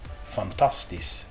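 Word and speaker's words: fantastisch: And the SCH blend here, you're only going to hear the S out of this one. The CH is entirely silent. This word is pronounced fantastis.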